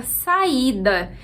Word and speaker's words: saída: E aqui entra uma dica diferente, que é: quando a palavra for acentuada, a sílaba mais forte sempre vai ser a sílaba acentuada. Então não pode ficar nenhuma dúvida, a sílaba é o I.